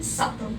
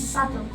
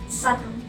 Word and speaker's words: subtle: We pronounce them subtle as we basically just read them subtle. But that is the wrong pronunciation. So the right pronunciation is subtle. The B was silent, subtle.